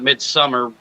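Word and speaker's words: Midsommar: I still need to watch, like, even though people still pronounce it Midsummer when it looks like it's saying Somar because of the O.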